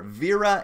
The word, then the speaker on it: Wera: I am a huge fan of Wera, or Vera. If you pronounce it properly, I've been corrected before. Vera and Viha is supposedly the right pronunciation.